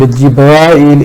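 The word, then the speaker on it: جبرائيل: Jibreel is used in Quran and Jibrail is used in Hadith, so both are correct pronunciations.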